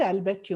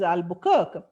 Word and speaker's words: Albuquerque: She said, it is not Albuquerque, ma'am, it is Albuquerque.